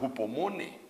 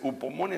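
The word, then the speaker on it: ὑπομονή: Esa paciencia se le llama hupomone o hupomone, depende en dónde aprendió a hablar griego usted. Pero es upomone, así se escribe, pues, no se escribe, sino que así se pronuncia.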